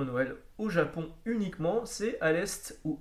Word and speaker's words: Aleste: au Japon uniquement, c'est Alest ou Alesta. Je sais que beaucoup de monde dit Alesta parce que en japonais ça s'écrit Alesta, mais le terme international est Alest.